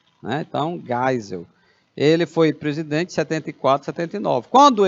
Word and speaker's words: Geisel: aos poucos a população o general Geisel pronuncia gás o que ele tem ascendência alemã ou é tem som de ar né então Geisel ele foi presidente 7479